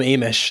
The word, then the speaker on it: Amish: I do love the fact you call them Amish. That's it rhymes with Hamish.